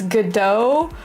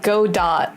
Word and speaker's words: Godot: So apparently the T is silent, so it's Godot, but it looks like when you read the name, it looks like Godot, right?